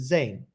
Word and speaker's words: Zane: So first, how do I pronounce? Is it Zane? Yeah, that's right.